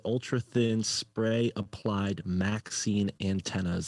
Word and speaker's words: MXene: so it says here, it says ultra thin spray applied Maxine antennas. It's spelled MXENE.